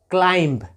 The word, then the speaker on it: climb: आगे देखिए CLIMB, क्लाइंब। कितने लोग क्लाइंब पढ़ते हैं, क्लाइंब, मगर नहीं, चूँकि एम के बाद बी आ रहा है तो बी यहाँ पे साइलेंट है, तो इसको हम पढ़ेंगे क्लाइंब।